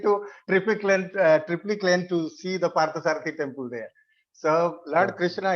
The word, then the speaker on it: Parthasarathi: When I was in North, so I was, because North people, they are not able to pronounce Parthasarathi. Many people say Sarthaparthi, Parthasarathi.